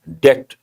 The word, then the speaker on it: debt: Here, the letter B is silent, debt.